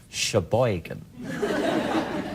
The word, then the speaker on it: Sheboygan: right let's just rumor is that how you say it Sheboygan well unless you're doing this your boy can accent and it's Sheboygan this is from James